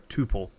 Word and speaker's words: tuple: This is essentially what we call in Python a tuple or a tuple, depends upon how you want to pronounce that.